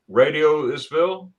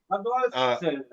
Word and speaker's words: Radolfzell: Radioisville?